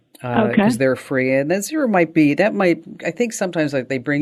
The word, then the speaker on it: Xero: It's spelled with an X, Xero, and that's free for small businesses.